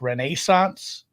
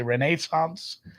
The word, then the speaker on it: Renaissance: home I will say it is pronounced Renaissance that's how they say it over there um I've watched some BBC TV uh Kunk Kunk on Earth has taught me how to say Renaissance I think that's about